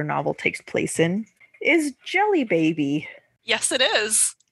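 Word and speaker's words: Djelibeybi: takes place in is jelly baby yes it is it's spelled DJ e l b y b i that's still jelly baby that's definitely Jelly Baby did not catch that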